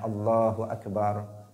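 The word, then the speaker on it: الله أكبر: Ketika takbir harus benar membacanya Allahu Akbar, sudah kita terangkan. Enggak boleh memanjangkan ba-nya, enggak boleh memanjangkan hamzahnya, enggak boleh merubah dari makhrajnya.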